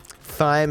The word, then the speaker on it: thyme: Thyme advice. Takes a long time. It's actually pronounced time, isn't it? That's just dumb. T-H-Y-M-E does not spell time.